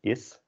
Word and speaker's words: is: Although in English you can pronounce it more as a z, is. And in Dutch it's an s, is.